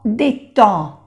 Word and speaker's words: détend: Prendre une douche, ça détend, en, la D no se pronuncia, en détend, détend le corps.